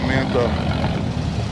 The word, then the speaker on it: Manta: Yeah, it's the manta. Rhymes with Fanta.